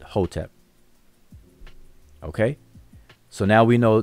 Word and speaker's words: Hotep: And today we pronounce that conventionally, we pronounce it Hotep.